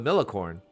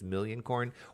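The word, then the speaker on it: Millioncorn: crop of million corn I'm saying it wrong it's million corn was not a good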